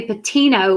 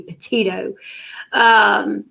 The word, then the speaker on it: Petito: like written articles like say her name correctly she called her gabby patino like several times before she called her gabby petito so she posted this